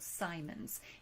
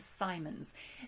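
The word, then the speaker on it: Psimons: We also have individuals called Simons, and that is spelled with a P, P-S-I-M-O-N-S, the Simons.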